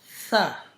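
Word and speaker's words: ث: The first letter is tha. Tha. Tha. When the tip of your tongue touches the up 2 big teeth beginning, then it's pronounced then it's pronounced the letter tha.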